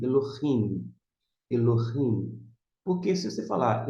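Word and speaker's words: אֱלֹהִים: Consoante L, Elo. Aí nós temos o Re. O Re, algumas pessoas pronunciam, outras não. Não vou entrar aqui em discussão. Mas para marcar, para você saber que tem, é preferível que você pronuncie Elohim.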